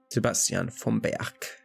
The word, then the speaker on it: Sebastian vom Berg: Sebastian vom Berg. As his name is German, we have to pronounce it that way.